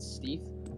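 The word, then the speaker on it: stETH: So the way that Lido works is when you delegate ETH and receive staked ETH, or I pronounce it Steeth, in return, the revenue that's coming from the validator is shared in the form of a reflect token.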